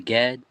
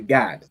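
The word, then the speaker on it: גד: But young man, how would you pronounce coriander in Hebrew? That would be Gad. It would be Gad, right?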